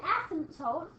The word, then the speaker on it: asymptote: So this graph has, I'll spell it for you, and it's spelled funny, A-S-Y-M-P-T-O-T-E, asymptote. Sounds like a silent P.